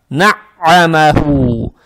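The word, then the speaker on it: وَنَعَّمَهُ: Теперь здесь буква вау с фатхой, далее нун с фатхой и айн, гортанная айн, она же удваивается, и здесь фатха. Получается, вот эту фатху надо произносить как удвоенную гортанную, то есть на-а, на-а, на-а, на-а-маху.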